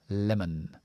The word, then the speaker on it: lemon: o voy a poner una sha lema lema Lemon Lemon Lemon Lemon Okay okay could you me